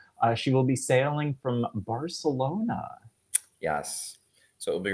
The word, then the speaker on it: Barcelona: And super excited for Rocky to experience Barcelona, which is how they say it in Catalan.